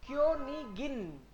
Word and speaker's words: Königin: क्योनिगिन, ये आपकी बार इश नहीं है, आई जी लास्ट में आए तो ही इसका मतलब इश है, अदरवाइज तो नॉर्मल जी को गए बोलेंगे। So this is क्योनिगिन, क्योनिगिन, but this one इज क्योनिश, क्योनिश, क्योनिश, क्योनिश।